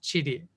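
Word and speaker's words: 地理: And this character is also in the Japanese word for geography, which is pronounced chiri or chirigaku.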